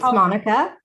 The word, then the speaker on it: Monica: here with how do you want me to pronounce your name monica it's monique it's monica and my last name's and in spanish